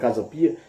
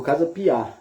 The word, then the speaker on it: Casa Pia: depois vamos pesquisar direito a gente chama de casa pia e o cara chamou casa piar e a gente vai